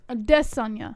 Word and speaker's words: Adesanya: Adesanya or Adesanya. Adesanya. That's how you supposed to say it.